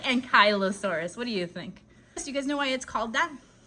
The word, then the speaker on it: Ankylosaurus: That is the Ankylosaurus. Now, I've also heard the Ankylosaurus, and for those in Britain, the Ankylosaurus. Now, how you pronounce this is entirely up to you. I like Ankylosaurus.